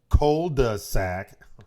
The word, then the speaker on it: cul-de-sac: When a neighbor disappears, Ray and his cohorts risk their lives to save their cul-de-sac.